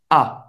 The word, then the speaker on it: as: Com a primeira pessoa é j'ai, agora com a segunda pessoa é tu as. Tu as. Você não vai pronunciar o S no final.